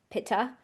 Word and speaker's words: Pitta: vata, pitha, and kafa. Here in the west, we pronounce them vata, pitta, and kafa.